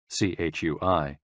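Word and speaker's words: chui: associated with the lungs c-h-u-i pronounced like tree with a forceful exhale which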